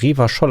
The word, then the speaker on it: Revachol: Revachol wird Revachol ausgesprochen.